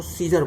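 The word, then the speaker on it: Caesar: सीजर माने सुमन सम्राट, तो इसमें ए साइलेंट है ए, तो सी के बाद AESER है ना, तो ई की ध्वनि आएगी, इसलिए इसको सीजर बोलेंगे, सीजर बोलते हैं इसको।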